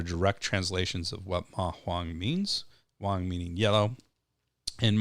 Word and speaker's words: Ma Huang: we're talking about today which is mahang so those are both second tones uh if you're familiar